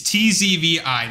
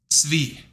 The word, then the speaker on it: Tzvi: And the TZ is ts, okay? Like pretzel. You right? You can pronounce pretzel, so shut the freak up, okay? So, you got ts like pretzel, okay? And then you got V. And that's it. And then you combine it. Tzvi.